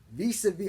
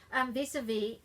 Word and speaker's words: vis-à-vis: And in French, after the last consonant, everything else is dropped. So that's why it says vis-a-vis, and not vis-a-vis.